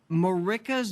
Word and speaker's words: Marika's: are the author of marica's best laid plan did i say that right yes you said it right could i could i